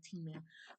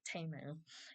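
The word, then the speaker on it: Temu: People still say T-Mu, but it's TAU.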